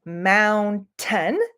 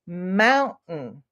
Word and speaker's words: mountain: in the word Mountain we don't say Mound ten it's okay if you say Mountain it's totally okay we're gonna totally know what you mean uh if you want to sound a little more natural you can say Mountain so it's like Mount um and we don't pause when we say it but you can hear that little stop in the word Mountain kitten if you can think